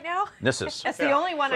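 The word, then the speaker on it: Gnisis: Yes, in this one, the G is silent, unlike in Dreg. In Dreg, the G is the only thing you pronounce. In Nissus, it's the letter you don't pronounce.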